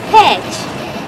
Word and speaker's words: Pécs: Pécs? Pécs? Pécs? Pécs? No, it is pronounced Pécs, with a beautiful smile when you say it.